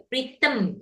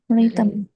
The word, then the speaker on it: rhythm: Ya, rhythm itu bacanya. Rhythm. E-nya maju ke depan, rhythm.